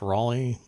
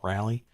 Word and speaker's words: Raleigh: by raleigh darnell and i believe it's still pronounced raleigh even as a name not rally and susan v fisk